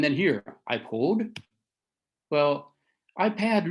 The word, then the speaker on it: iPad: here i pulled well ipad really sound more should rhyme with bat an ipod should rhyme